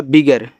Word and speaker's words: bigger: मतलब आ ही होगा, बिगर, BIGGER को बिगर पढ़ते हैं, बिगर मत पढ़िएगा, बिगर सिर्फ। गा का उच्चारण एक ही बार, भले ही डबल बार है, तो ए आपका देखो हो जाएगा बिगर।